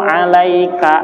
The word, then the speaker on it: عَلَيْكَ: Assalamu alayka ayyuhan, salah, K-nya itu pendek. Assalamu alayka ayyuhan, nun ada tasdidnya, nggak boleh ayyuhan nabiyyu, nggak bisa.